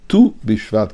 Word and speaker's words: Tu BiShvat: use nine and six so that is tess and which comes to when we pronounce it we say tu this is where the word of tu bishvat comes from meaning the